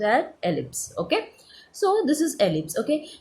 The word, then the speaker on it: ellipse: This is pronounced as ellipse, okay.